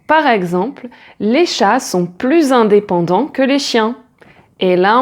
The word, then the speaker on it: plus: Ensuite, on peut dire je travaille de plus en plus et là le premier plus est prononcé comme un Z puisqu'il est prononcé ensemble avec le et plus on est de fou, plus on rit.